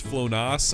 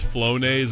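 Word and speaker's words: Flonase: My three-year-old calls flown flonas. I don't even know what that is, honestly. Mommy's special nose medicine. And now my neighbor thinks I do cocaine. Okay, apparently it's pronounced flonese and it's just allergy relief medicine.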